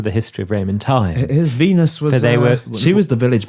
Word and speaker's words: Venus: history of ran time Venus was she was the Village bicycle when it came to the gods I'm not too sure about wenus however that's the pronunciation however the latinate pronunciation however I do know